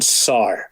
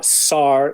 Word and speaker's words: Sear: And my surname is a funny one. My surname is pronounced Sar. So I always say to people, remember Sar like spar.